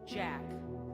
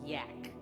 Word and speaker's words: Jack: And it's pronounced Jack, not yak.